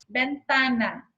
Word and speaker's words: ventana: Por exemplo, ventana. Ó, o tá é o tônico.